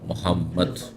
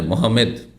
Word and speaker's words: মোহাম্মদ: সবাই যে যা নামে চেনেন তা হচ্ছে মোহাম্মদ জ ইংরেজিতে বিকৃত করেছে ওইভাবে বলবেন না ইংরেজি উচ্চারণ করতে গিয়ে এক শ্রেণীর মুসলিমরাও তাদের দ্বীন সম্পর্কে জ্ঞান না থাকার কারণে মোহামেদ হ্যা বলে থাকে এভাবে বলা ঠিক নয় এইরকমই